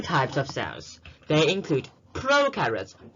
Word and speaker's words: prokaryotes: They include prokaryotes. Pro rhymes with no, so there will be no nucleus, while eukaryotes rhymes with true, so it has a true nucleus.